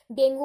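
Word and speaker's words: dengue: और जो है एंडीज मॉस्किटोज डेंगू कैरी करता है, अभी डेंगू है, अब पता है इसकी बहुत सारी वो है प्रोनाउंसिएशन है, डेंगू बोलता है कोई, डेंगी बोलता है,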